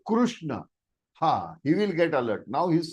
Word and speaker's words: Krishna: Krishna. It is not Krishna. If you call it Krishna, our God Krishna will say, okay, he is calling Mr. Krishnamurti. But if you say Krishna, he will get alert.